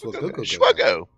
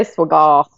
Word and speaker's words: SWGOH: Swuggo. Swuggo. I always say Swiggle. Swuggo. Swiggle. Oh, goal. Swuggo. All right. The H is silent. It's SWGOH. The H is silent like in Saber Shark.